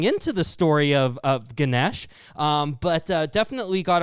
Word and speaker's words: Ganesh: So the pronunc pronunciation becomes Ganesha for uh western folks. Uh but in India the actual pronunciation is Ganesh.